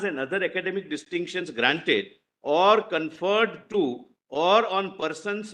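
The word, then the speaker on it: Awadh: a Governor's Province a why should we say OD britishers were unable to pronounce therefore they used to say OD it's a our Agra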